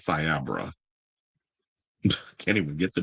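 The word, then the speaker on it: Cyabra: that conducted the report, Cyber, um I think it was, but he's saying it wrong. He said Cyber. is Siabra.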